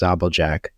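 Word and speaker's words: Žabljak: And then they have a small little town called Zablik. I think it's pronounced Zabeljak.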